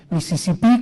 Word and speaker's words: Mississippi: Los demás, cuando es New Jersey, Nueva Jersey, Mississippi con acento en la I al final, Tennessee con acento en la I.